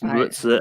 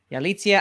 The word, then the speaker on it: Yalitza: We need a show of Abe corrects some pronunciations. The first episode is Maritza Aparicio. I know, don't even. But Manning, but anyway, Manning, should the Croods have won over Frozen? Yalitza Aparicio.